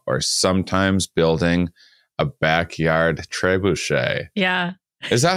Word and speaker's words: trebuchet: doing Kev McGraw or sometimes building a backyard trebuchet yeah is that how you pronounce it by the way trebuchet uh trebuchet usually trebuchet okay so everyone has seen a